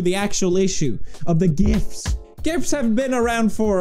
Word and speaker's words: GIF: thing that shows up gif with a hard G wow that really sure